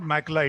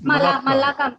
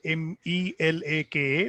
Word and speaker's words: Malacca: No, it's not Makla, it's Malacca. Malacca. Okay, spelling is Malacca, or some people call it Melaka, Malacca Strait, which is between Malaysia and Indonesia.